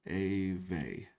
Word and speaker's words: Dev Ave: Yeah, give a shout out to Famous and Dev Avenue. Pronounced Ave.